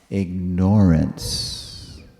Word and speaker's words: ignorance: He would say, ignorance. He wouldn't stress the first syllable, ig. he would stress the second syllable, nor, because then you remember the word ignore.